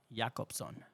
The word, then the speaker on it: Jacobson: when CH was say Jacobson say it again yakobson you actually say it really good this like I pronounce it in Spanish yakobson yob with a y y yob yakobson sopia